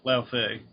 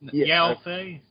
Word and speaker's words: Yao Fei: Shadow or Shadow, however you pronounce it, and Lao Fei. Is it Lao Fei? No. Yao Fei. Yeah, Yao Fei.